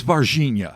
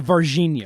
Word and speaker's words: Varginha: Virginia incident so yes did I say it correctly you did it is Virginia a Virginia I know we want to go like we want to totally American vagina inside part one not